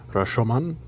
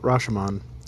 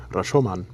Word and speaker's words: Rashomon: reihata let me know the correct way to pronounce the name of the film rashomon not rashaman rashoman and just wanted to get